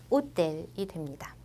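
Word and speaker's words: hôtel: 기본적으로 프랑스어에서 아쉬는 묵음이에요. 발음을 안 한다고 보시면 돼요. 우리 영어에 익숙하기 때문에 이 단어 보면은 그냥 호텔이라고 읽고 싶어지실 거예요. 하지만 프랑스어에서 아쉬는 발음하지 않기 때문에 호텔이 됩니다.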